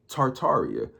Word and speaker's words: Tartaria: Tartaria, originally pronounced Tartaria with the first R, is the name of the pre-Mongolian empire that originated in northern Asia before spanning the entire northern hemisphere.